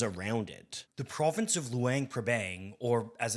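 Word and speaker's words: Luang Prabang: The province of Luang Pbang or as it's more properly pronounced Luang Papang isn't in Vietnam at all but rather in Laos.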